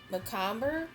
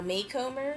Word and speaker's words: Macomber: And the next is the Hotel Macomber or Maycomber. I think it's Macomber. Macomber? I think that's how you pronounce it.